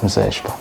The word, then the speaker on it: Mzweshper: pronouncing igama lami, so if you can say Cassper ang akungeke uhlule ukuthi Mzwespera, cause it's Cassper Mzwespa, Casper Mzwespa as simple as that uyabona ya so